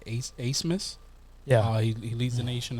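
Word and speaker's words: Abmas: Max, I think they pronounce it Asmus.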